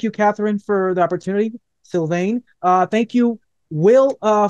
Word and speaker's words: Sylvaine: Facebook syan music they're all syane music yeah syane that's how you pronounce it exactly you were so entertained that